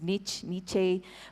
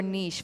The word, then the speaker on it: niche: I feel it's mispronounced so many times. It's niche, but it's actually find your niche, find out who your niche is, and you know, just work towards that.